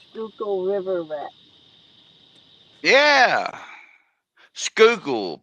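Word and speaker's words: Schuylkill: or a river the river I'm on the skookul river in Southeastern Pennsylvania hence the name skookle River Rat yeah skookle pronounce skole I'm country but I didn't say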